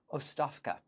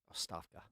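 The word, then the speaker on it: оставка: Like I said, it looks to our English-speaking Western eyes like uh agabka, but uh I think it's pronounced Oafka. Oafka.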